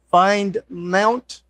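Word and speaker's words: findmnt: together some screenshots of using my command I pronounce it find Mount it's f i n d m NT and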